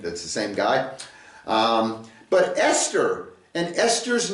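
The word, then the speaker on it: אסתר: It's an aleph, a samek, a tav, and a resh, and it's pronounced Esther. Esther.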